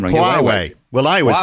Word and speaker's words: Huawei: I mean, this is the crazy thing about how do you pronounce QA? I'm getting the name wrong. Huawei.